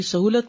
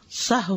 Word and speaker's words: سہو: کا فعل بھی ہے۔ سہو ہوتا ہے، سہو نہیں ہوتا، سب لوگ اپنا تلفظ بھی درست کر لیں۔ سہو جیسے لغو، ٹھیک ہے، کرب، نفس، سہو۔ سجدہ سہو کے اسباب،